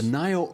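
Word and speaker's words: Naïo: me n AI o mhm how do you pronounce that that's the noo Oz the nio Oz for weeding and hoing now why is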